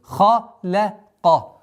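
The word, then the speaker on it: خَلَقَ: А здесь полная противоположность первого слова. Твердый, мягкий, твердый. Халяка.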